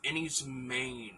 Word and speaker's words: Enys Men: put it up next is Annie's main I believe it's pronounced the title is Cornish um this is a